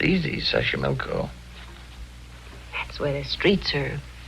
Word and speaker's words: Xochimilco: Okay, so you pronounce it better than I do. It's easy, Xochimilco.